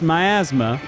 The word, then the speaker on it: miasma: yeah yeah so it's it's clearly pronounced miasma like not your asthma but my asthma uh and is are